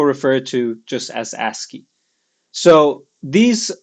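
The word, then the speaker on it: ASCII: uh in this system called aski uh that's how you pronounce that uh it stands for a much larger acronym but most people refer it to just as aski so these letters um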